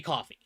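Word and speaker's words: Ko-fi: star and there is Kofi or coffee. I don't know the exact pronunciation of that. It it's supposed to be coffee. I don't know if they do it coffee or kofi though.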